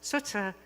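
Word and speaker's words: Tsts: And then there's the squirrel whose name is spelled T-S-T-S, which humans pronounce as sutsa, but to a squirrel it sounds more like.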